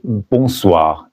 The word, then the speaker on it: bonsoir: Mais après le coucher du soleil, il faut dire bonsoir et non pas bonjour. Bonsoir. N'oubliez pas que le N ici n'est pas prononcé parce qu'il est nasal.